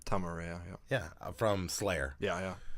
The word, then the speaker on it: Araya: howhow do you say his last name Tom Araya yeah from Slayer yeah yeah so you can